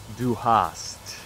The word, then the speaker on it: Du hast: main line from it, "Du hast", is a pun; it's a word-play on two German phrases that sound exactly the same but have different meanings.